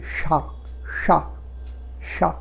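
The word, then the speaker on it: chat: নিয়ে যাচ্ছিলাম, এখানে আমাকে জিভটাকে একটু ওপর দিকে তুলে তালুর দিকে নিয়ে যেতে হচ্ছে, তাই এই উচ্চারণটা তালব্যস্বর মতো হচ্ছে, অর্থাৎ সা, বিড়াল যাকে বলি, সা সা সা।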